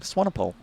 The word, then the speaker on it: Swanepoel: You did well there with the Swanepoel, because I actually went and messaged Jay Davidson while he was on holidays to ask how do you pronounce Aubrey's second name, and it is, in fact, Swanepoel. We'll see how I do the rest of the names.